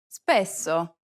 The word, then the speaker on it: spesso: This is a common mistake because many students aren't aware that double consonants are actually pronounced for a longer duration in Italian than they are in English.